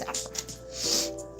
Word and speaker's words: Saffroth: I said it wrong on accident, though. We're 'cause busy people. I was just talking fast, but it's Saffroth.